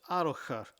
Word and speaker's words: Arrochar: The CH sound in Scottish is a soft H, like hotel. So it's Arrochar, Loch Long.